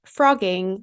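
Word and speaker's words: phrogging: the word is pronounced frogging like you you pronounce it like frog the animal but it's written pH um and yeah it's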